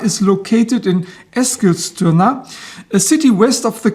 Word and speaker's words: Eskilstuna: a Swedish friend and I'm trying to get as close to the Swedish pronunciation as I can. First, a little geographical orientation. Here is a map of Sweden. EKA is located in Eskilstuna, a city west of the capital Stockholm.